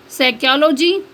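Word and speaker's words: psychology: next है silent P पी इज not pronounced P pronounce नहीं किया जाता या पी आवाज नहीं देता एट the beginning of many words कई अल्फाज के शुरू में using the suffix side and न्यू for example साइकोलॉजी pneumonia next है साइलेंट एस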